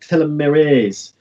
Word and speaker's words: telomerase: restart and Omega logos believes that it's not pronounced Almaraz but telomerase now I'm German so I will cross cameras